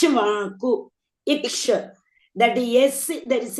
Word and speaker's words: Ikshvaku: pronounce. Ikshvaku.